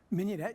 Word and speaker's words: Mignonette: It is 1884, and the yacht Mignonette, is that how you pronounce it? Mignonette, yeah.